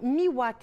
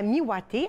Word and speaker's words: Miwate: Alors, on lui donne le nom Miwate, et j'espère que je le prononce comme il faut.